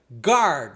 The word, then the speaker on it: guard: Outro exemplo muito comum, o erro guard, né, que é o guarda. Em em o gu a em inglês, você não pronuncia o u.